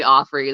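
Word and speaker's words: Auffry: even say it right apparently it's um Offrey there's no dot in that um not on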